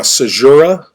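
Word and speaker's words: caesura: reading like an essay now a sajura is the way you pronounce this and it's basically any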